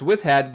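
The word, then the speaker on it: wifhat: dog with hat it's should be pronounced with hat but it's spelled VI uh WI F and a MIM uh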